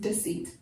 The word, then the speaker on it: deceit: tour does seats really the e is not stressed and so it doesn't have a long e sound like Dec it's really just deceit do it almost sound like a shortened use down we call the schwa lets you learn all